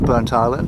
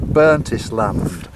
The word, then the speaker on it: Burntisland: But why have they split it into two syllables, like Burnt Island? Why is it all one?